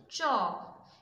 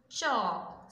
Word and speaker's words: chalk: The first one is chalk. CH makes a sound CH, A has a sound A, L has a sound U, but L is silent here, and K has a sound K. Chalk, CHALK, chalk.